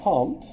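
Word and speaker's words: Comte: of sociology and that's AUST comp oh I didn't spell it comp and he's the one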